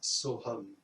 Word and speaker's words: Soham: Au gré de votre respiration, prononcez mentalement la syllabe So lorsque vous inspirez et lorsque vous expirez la syllabe Om.